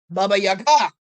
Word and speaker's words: Baba Yaga: "Baba Yaga," I said. Emphasis on the last syllable.